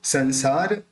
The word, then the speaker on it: संसार: तीसरा, ये जो बिंदी है उसका उच्चारण न होगा, क्योंकि आगे स है। स बोलते समय यानी कोई भी बिंदी को बोलते समय उस बिंदी के ऊपर के बाद जो अक्षर है, उस अक्षर को बोलते समय अगर अपने दोनों होठ मिलते हैं तो उस बिंदी का उच्चारण म निकलेगा, वरना उसका उच्चारण न निकलेगा।